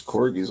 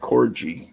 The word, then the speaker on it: Corgi: I was calling it Corgi or something like that, you know. And this British girl, this red-haired British girl, heard me say that, and she was just so disgusted that I would mispronounce it. It's pronounced Corgi.